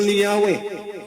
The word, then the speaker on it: Yahweh: muson while inclining to view the pronunciation yahwe as the more correct way we have retained the